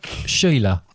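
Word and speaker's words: Síle: S-I-L-E. Soul. Yeah. All silly. Silly. Pronounced. Cecil. No. Sheila. Sheila. Right.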